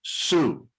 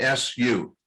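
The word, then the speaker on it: Sioux: have a different sounds to it but they pronounce it su just like an s u su all are consonant yeah um well there's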